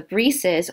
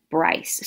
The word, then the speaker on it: Bryce: However, the actual pronunciation of this maiden name, this surname, is Brees. The Bryces or the Breeses were such Huguenots that came over from France into the Charlestown area.